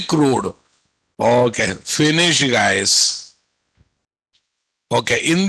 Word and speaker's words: CRUD: give guys crude repository Indians pronounce as a crow repository but it is originally crude okay Finish guys okay